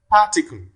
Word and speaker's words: particle: Particle. Particle. Where does it fall? Where does the primary stress fall? On the first syllable. That is pa.